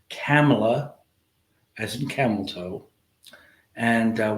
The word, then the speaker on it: Kamala: I'm guilty of this too uh I was pronouncing her name Cala which is I what I thought people were